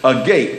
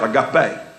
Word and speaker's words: agape: wonder what that is a gate AGA PE now there's a when it's written correctly there's a little mark over the e to let you know this pronounced I got bad that's and it's a